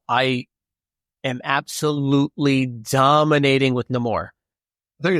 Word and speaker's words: Namor: Everyone pronounces it Namor. So that's how they pronounce it in the game, buddy. Okay. And that's how they pronounce it in Black Panther.